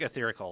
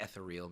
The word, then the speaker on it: Etheric: It's like Etherical Light. Etheric. Mm-hmm. Oh, Etheric Light. Got it. Like ethereal, maybe? Or no, yeah. I don't know. It's not ethereal. Ethereal Etheric.